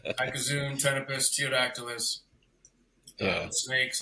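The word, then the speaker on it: Ptenopus: The P, anytime the P comes before like a weird letter, Yeah, yeah, like Tenepus, like the little barking geckos, P is silent, straight to the yeah. T. Tenepus.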